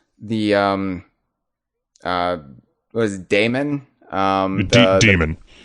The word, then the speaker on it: Daemon: Demon. His name's pronounced Demon, but it's spelled with the A-E, that kind of, old way of spelling it.